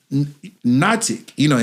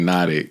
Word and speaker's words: NOTIQ: So NOTIQ, and here when I asked him, I was like, "How do you pronounce this?" He said, "Like hypnotic." So that tells me all